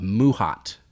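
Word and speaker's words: mahout: and his name was I wrote it down so I could say it correctly phonetically a mouhot and it spelled ma Hou T and a mouhot basically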